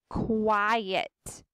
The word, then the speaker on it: quiet: that i just underlined quiet quiet do y'all hear how the k and the w sound is at the beginning kawhi yet it sounds